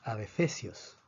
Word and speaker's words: adefesios: Se dice adefesios. Termina en S, por lo tanto la fuerza está en la penúltima sílaba.